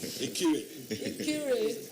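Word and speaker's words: Ikire: Ikiri. With a lower E. With a lower E, okay, so pronounce that.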